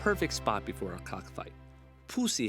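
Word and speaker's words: Phou Si: We finished our night overlooking Luang Prabang on the perfect spot before our cockfight, Pussy Hill. I'm not making that up. That's how it's pronounced.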